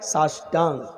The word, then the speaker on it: साष्टांग: सा अष्ट अंग, जब इसको मिलाकर पढ़ेंगे तो क्या पढ़ा जाएगा? साष्टांग।